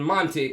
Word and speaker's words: Monty: The T in Monty is like the T in water. Americans don't say water. The British people say water. I'll have a glass of water. Water. Jamaicans say water. Water. Americans say, some of them, water. It's not a T, it's a D. Water. Okay, so Monty. You left out the T.